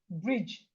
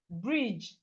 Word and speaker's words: bridge: Gabriel writes bridge, you should know what you are going to write. Okay, you should know what and whenever you see DGE in a word, please pronounce it as J.